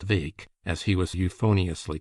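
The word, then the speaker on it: Bheag: Further, it was rumored that there was a chance of them getting for goal Farquar McCrae, little Farquar or Farquar Vake, BH EG, pronounced Vake, as he was euphoniously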